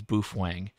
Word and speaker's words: boofwang: By the way, the secret word is boofwang. We'll end with boofwang. Boofwang. Boofwang. Thank you, Randy. Thank you, Andy. The secret word is boofwang. B-O-O-F-W-A-N-G. Boofwang. It rhymes with cool whip.